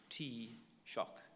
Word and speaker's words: Taoiseach: But for those who don't speak Irish on a regular basis, they pronounce it Taoiseach in phonetics.